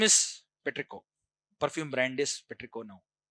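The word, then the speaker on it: petrichor: Uh don't don't say Petria. Okay. You pronounce it as Petricco.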